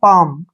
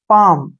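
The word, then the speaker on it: palm: एम यहां पर भी एम से पहले एल आया है तो एल का उच्चारण हम नहीं करेंगे इसको हम पढ़ेंगे पाम क्या पढ़ेंगे पाम क्लियर जैसे नेक्स्ट है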